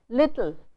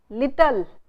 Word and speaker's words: little: So, you saying kitten, little, hidden. This here n and l themselves work as vowels. So, you do not have to add a vowel between this. Indian speakers say kitten, hidden, little. They add a vowel between t and l.